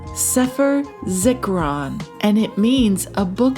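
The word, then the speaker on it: ספר זכרון: And in Hebrew, it's pronounced sephur zikuron.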